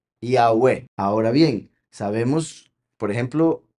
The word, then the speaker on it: Yahweh: Estas 4 letras, en el caso del nombre del Padre, se pronuncian como vocales, a pesar de ser todas las hebreas consonantes. ¿Ok? Entonces, como he dicho, es I-A-U-E, Yahweh.